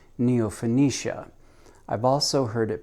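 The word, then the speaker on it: Neofinetia: That's how he pronounces it, Neophonetia. He sent his son to Japan to study with the same master, and the son pronounces it Neophonetia. So even within the same family and the same mentor, they can't come up with the correct pronunciation.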